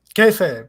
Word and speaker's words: Kayfabe: Kayfabe, yes, that's Kayfabe, the name of the book.